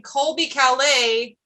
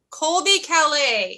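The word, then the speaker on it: Colbie Caillat: Jeremy suggested drawing Colby Calais, Merchant of Murder.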